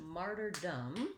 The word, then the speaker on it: martyrdom: one more syllable martyrdom it still has first syllable stress and i just have a schwa vowel sound and an m so martyr dumb again short and unstressed martyrdom martyrdom when i